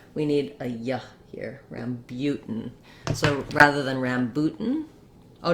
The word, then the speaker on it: rambutan: with the stressed syllable it made me want to say a u but it's actually a boo an u sound so let's write it that way rambut rambutan i'm gonna use a stopped t here and go right into my um syllabic n so i'm gonna go up to make the t boot and then just release into the n sound again i can start